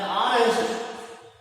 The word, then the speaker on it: honest: An honest man. Here is look at the sound. The letter H is not a vowel, but it is silent and also it produces a vowel sound.